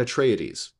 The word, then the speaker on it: Atreides: he says hearkenin and Atreides but betray Ides not tradies a trades yeah he pronounces that e that's in there it's a four-syllable word Atreides okay interesting yeah so